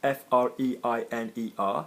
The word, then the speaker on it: freiner: Notice the pronunciation of freiner, we've got the F-R-E-I-N-E-R, freiner, because there's an E after the M.